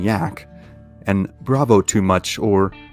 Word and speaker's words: Jack: begrudgingly respectful nicknames of Captain Jack pronounced Captain yak and Bravo too much